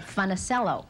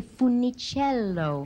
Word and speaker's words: Funicello: He said, you have to say Funicello. It's in three-quarter time.